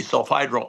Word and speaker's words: sulfhydryl: It has a sticky sulfhydryl arm, is the right way to say it.